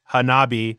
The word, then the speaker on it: Hanabi: Read Hanabi, emphasis on the ha. Thank you for the emphasis. Yes, we're putting emphasis on the correct syllable.